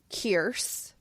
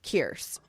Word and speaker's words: Kierce: Also, the lead girl's name, I believe it's pronounced Kierce. Okay.